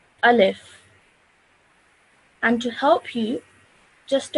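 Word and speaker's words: ألف: the actual letter okay so as you can see over here in English it says a live so that's easier for you to read as well and recognize each letter so this letter is a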